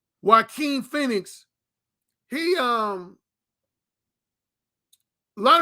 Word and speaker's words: Joaquin: and sexually is okay i pronounced his name that brother peter joe says joaquin i've had people before i said i've mispronounced it so yeah okay thank you brother peter joaquin phoenix he um a